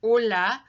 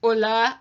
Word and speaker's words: hola: like I said before with hola the H is silent and the SI e